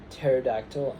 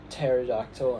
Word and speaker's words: pterodactyl: Um and they are psychology, pterodactyl, and mnemonic. So, we just pretend in English we just pretend that those um that those um letters don't exist, but in Greek they